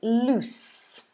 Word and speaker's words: loose: a bit different um it's loose so it's ooh but it's not z at the end it's it's an s sound loose so loose as